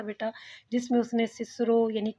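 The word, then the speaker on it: Cicero: रॉल्स्टन के सामने उसने कैसे अपने पुराने प्रोनाउंसिएशन को डिफेंड किया, ये भी हमने पढ़ा था बेटा, जिसमें उसने सिसरो यानी किकरो, वो कहता अगर आप किकरो कहेंगे तो मैं तो उसे सिसरो ही कहूँगा, क्योंकि रेस्ट ऑफ द लाइफ बच्चे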